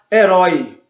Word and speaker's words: herói: Assim também como na palavra herói. Você percebe herói. Você não diz herói, você diz herói. Então o O você percebe que ele fica mais presente, ele fica mais forte na frase, na palavra, melhor dizendo.